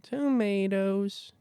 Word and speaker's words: Tomatoes: Do you have to say it like tomatoes? Is that how they say He it? No, he says tomatoes. More like that.